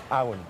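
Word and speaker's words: abhainn: Awan. Awan. Awan. So very similar to Avon, which is the Old English and the Welsh.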